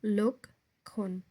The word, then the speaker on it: লক্ষণ: অংশ এক ভাগ দুই লক্ষণ শব্দের প্রমিত উচ্চারণ হল লোকণ একটা লকার ক তারপরে ক্ষয়কার দন্তন্য লক্ষণ লোক আমরা আগে বলব লোক তারপরে কষণ লক্ষণ সিঙ্গুলার ফর্ম অফ ক্রাইটেরিয়া